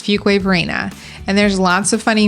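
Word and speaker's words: Fuquay-Varina: you have it I just said it it's Fuquay Varina and there's lots of funny memes on that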